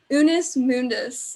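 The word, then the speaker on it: Unus Mundus: Unis Mundus art.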